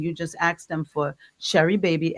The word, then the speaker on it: Sheribaby: So you just go in and you just ask them for Sherry Baby. S H E R I B- A B Y by Sharon Gordon. And it's spelled the same way it sounds, Sharon Cordon.